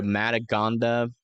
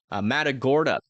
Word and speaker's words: Matagorda: here um south of Indianola uh near to madaga I that's what how you say it oh no too much rain can't see Matagorda uh bay area as well about to start